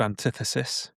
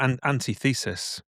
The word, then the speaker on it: Antithesis: So our band was called Antithesis, or Antithesis, as what we thought that was how it was pronounced at the time. Yeah, we were pronouncing it wrong, weren't we?